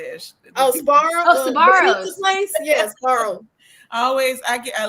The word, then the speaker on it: Sbarro: Sbarro.